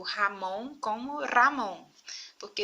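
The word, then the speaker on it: Ramón: Vocês viram aqui que eu pronunciei o Ramon como Ramon, porque esse R justamente vai ser mais vibrante.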